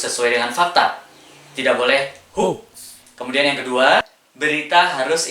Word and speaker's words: hoax: Jadi, tidak boleh mengandung unsur pembohongan atau dalam bahasa Inggris disebut dengan hoax. Orang-orang biasa menyebutnya dengan istilah hoax. Padahal yang benar membacanya bukan hoax ya, tapi Hoax. H-O-A-X. Dibacanya Hoax.